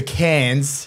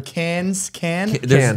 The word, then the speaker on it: Cannes: because David went to Cannes Film Festival. He left a Cannes. You don't pronounce the S.